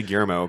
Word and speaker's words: Guillermo: obsessed with Blade 2, I could not figure out how to say his name either. And I had a like Mexican neighbor who like looked at me one day trying to struggle and say it like you just did, and was like, "Guillermo." Well, and I was like, "Okay." Funny enough, Guillermo. Jared, I know how to say Guillermo because that's William in Spanish.